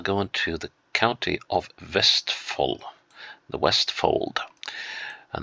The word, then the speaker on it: Vestfold: Vestfold is, with the exception of Vestfold, to say it properly, is with the exception